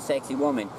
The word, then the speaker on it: Sacsayhuaman: And not just the Egyptians, there's places like Sacsayhuaman, I can't say the proper, Sacsayhuaman, I'm not sure it's hard to pronounce it, some people call it sexy woman.